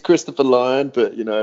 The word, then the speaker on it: Lyon: I have a tough time pronouncing your last name, so I'm just gonna say Chef Christopher. Yeah, it's Christopher Lyon, but you know, Lyon, Lyon.